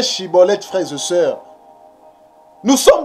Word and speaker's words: Schibboleth: groupe des galadites donc si tu n'arrives pas à bien prononcer chibolette tu prononces siibolette cela veut dire que tu es un étranger ça veut dire que